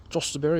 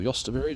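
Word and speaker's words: jostaberry: Volunteer tomato, and then my josterberry or yosterberry, depending on how you want to pronounce it, and some snapdragons in there.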